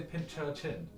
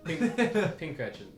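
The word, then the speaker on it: Pincurchin: Pink urchin. Snom, I love this. You say pinch urchin? Yeah, pink urchin. Pink urchin. Yeah, like an urchin. Yeah, pink urchin. I said pinch urchin.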